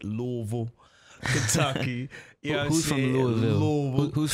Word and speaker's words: Louisville: Let me say it right the way he taught me to say it. Louisville.